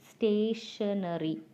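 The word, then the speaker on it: stationery: branch that word it's stationary so it's actually t i o we pronounce it as sure sound yes or no actually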